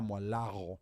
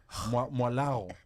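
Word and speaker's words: Mwalagho: In fact, the way your name is spelled is Yes. very interesting. It's Anna Mwalago.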